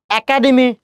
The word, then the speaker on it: একাডেমি: একাডেমি না একাডেমি, খেয়াল করেন এরপরে যদি অ বা আ থাকে তখন এই এর উচ্চারণ এ করতে হয়, ওই জন্য কি হবে একাডেমি।